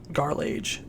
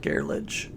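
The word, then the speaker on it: Garlaige: of the second part garlage not garlic garlage so garlage citadel i'm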